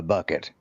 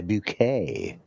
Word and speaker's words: Bucket: of these that I mean, her her last name there was was spelled B U K E T and her husband went by bucket, but she was too good, so she went by bouquet.